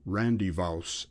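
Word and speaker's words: rendezvous: Haven at this time for their rendevous or Randy vouse as it was generally pronounced was an inn of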